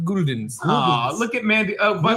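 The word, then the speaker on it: Gulden's: Look, it came with all this Golden's mustard. You retard. You mean Guldens? You have. It's actually, according to Garrett, pronounced Guldens.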